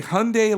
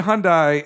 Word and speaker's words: Hyundai: which I learned is a Hyundai like Sunday is how it is pronounced, because I'd always said Hyundai as well, but when